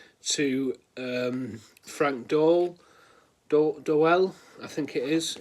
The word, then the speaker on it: Doel: um Frank do do doell I think it is it's it say it's like pronounced like Noel um I think it's